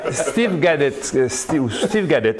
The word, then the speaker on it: Steve Gadet: Steve Gadet, oui, c'est comme ça que ça se prononce, qui est un écrivain martiniquais, fait un papier.